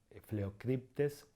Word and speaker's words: Phleucryptes: Entonces tenemos ejemplos de la PH que se pronuncia como F. Por ejemplo, tenemos el Phleucryptes melanops o Phoenicoparrus andinus.